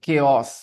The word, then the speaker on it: chaos: chaos when the teacher was not there okay chaos how do we pronounce it chaos if there is a chaos